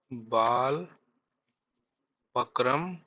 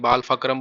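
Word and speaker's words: Balpakram: कुछ लोग पी बोलते हैं, कुछ लोग पी एच बोलते हैं, बाल फक्रम बोलते हैं, कुछ लोग बाल पक्रम बोलते हैं, तो आप देख लेना, उसमें स्पेलिंग कोई कोई बहुत बड़ा इशू नहीं है।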